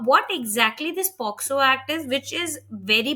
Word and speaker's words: POCSO: See, the POXO Act, people actually misnomer as POSCO Act also. Yes, yes, I have seen people mispronounce it. Mispronounce also. It Yeah. is only POXO Act.